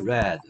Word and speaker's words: read: 네, 그 다음에 put, 셋, put, hit, 그 다음에 read, red. 맞습니까? 선생님, 이거 불규칙이 아닌 것 같은데요? 왜 이래요? 와, 불규칙이죠, 이거. 근데 발음도 조심하라 그랬습니다. read, red, red.